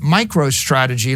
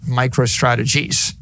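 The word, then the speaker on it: MicroStrategy: Now, right now I name my company Micro Strategy. Let me tell you, for 30 years, half our customers mispronounced it. Micro Strategies.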